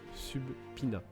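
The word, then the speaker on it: subpoena: Alors, je sais que c'est écrit Subpina. D'ailleurs, oui, ça se prononce Subpina.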